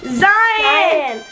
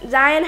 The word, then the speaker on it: Zion: And today, we have a special guest, Zion. Wait. And we're, make sure I pronounce it right. Zion. You got it right. Zion.